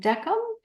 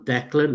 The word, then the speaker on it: Declan: Is it, how do you say your name? Decum? It's Declan from Oh, Ireland.